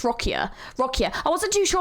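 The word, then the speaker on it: Roccia: character of Ro rossia I keep saying her name wrong I think it's rocka rocka I wasn't too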